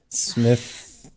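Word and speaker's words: Smithwick's: Smithix. You don't pronounce the W.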